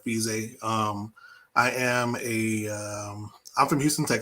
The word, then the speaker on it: Fezia: last name is pronounced fiji like f-e-e-z-a-y like fiji um i am a